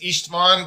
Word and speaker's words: Istvan: is it Istvan Eastvan? Indeed it is Eastman.